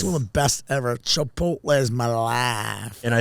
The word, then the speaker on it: Chipotle: People just This was not It's like Chip uh Chipot Chipoti. People always say that.